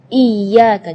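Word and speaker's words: إِيَّاكَ: Iyyaka, jadi tekanan iya dengan iyyaka. Kalau iyyaka berarti tidak ada tasydidnya.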